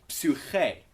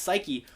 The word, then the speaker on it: psyche: why it's psyche, but notice how when we loan that word from Greek, it's a Y. It's not a U. And you kind of pronounce it like an I, as opposed to an U sound as you might anticipate.